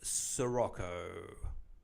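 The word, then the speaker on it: Sirocco: It rhymes with Morocco.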